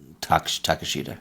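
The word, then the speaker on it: Takeshita: How do you actually pronounce his name? I feel Takashita? Takashita, yeah.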